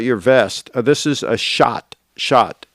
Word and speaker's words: Schott: tell us about your vest this is a shot shot it's as spell spelled s-c-h-o-t-t i think is how they spell it this is these are made in new